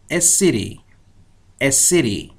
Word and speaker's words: city: اون تی ممکنه خیلی وقتها واضح تلفظ نشه و بیشتر شبیه د تلفظ بشه در انگلیسی آمریکایی. یعنی شما کلمه سیتی رو بشنوید a city. پس تعجب نباید بکنید، باید با این شکل تلفظ آشنایی داشته باشید.